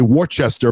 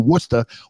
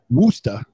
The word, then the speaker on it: Worcester: biggest city in massachusetts outside of massachusetts they say worchester but it's actually worcester or as locals say wooster so that's what a